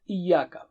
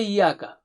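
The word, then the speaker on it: إِيَّاكَ: but anyway let's start with iyaka don't say yaka don't say e should be clear and the shaddha or tashdi so repeat three times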